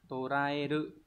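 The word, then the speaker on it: 捕らえる: Bộ, bắt giữ, đọc là toraeru.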